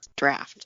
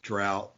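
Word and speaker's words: draught: sweeten it up right I never realized that's how you pronounce stff I think I never I never put the GH together like that I hear it pronounced differently and sometimes I use drought or drought or something too but yeah I think draft is is appropriate as well maybe that is proper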